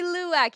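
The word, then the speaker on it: luwak: Do you guys know luwack? That's why I couldn't get it because I was saying the wrong syllable. Coffee luak.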